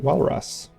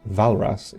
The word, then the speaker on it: Walras: We have discovered Leon Walras. Pronounced Valras, excuse me.